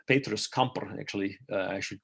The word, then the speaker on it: Camper: midwife a polymath incredible busy man uh petrus kemper petrus camper actually uh i should call that's that's his that's where pronounced it gained his interest in wales when